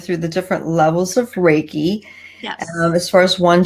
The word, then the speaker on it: Reiki: Reiki is, you say it Reiki. A lot of people have trouble pronouncing it, and that's okay.